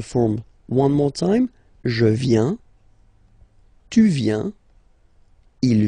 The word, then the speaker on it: viens: First form, je viens. Final S not pronounced. Je viens.